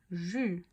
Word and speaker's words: j'eus: À la prononciation de E, c'est comme le participe passé du verbe avoir. Donc quand je dis j'ai eu, je ne dis pas j'ai bien ici je, non, j'eus, d'accord, mais c'est pas comme le participe passé.